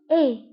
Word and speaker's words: est: Il se prononce et. Il se prononce et.